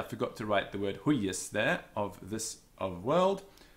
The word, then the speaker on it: huius: Hic Deus, the also huius, the Y is also doubled, and so the first syllable is tense, huius. Huius, it's got a tense first syllable, or a heavy syllable. It's a short vowel, but it is tense.